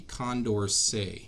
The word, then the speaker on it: Condorcet: we're going to talk about it's called the condor say and that's how this weird word right here is pronounced it's named after the mathematician who studied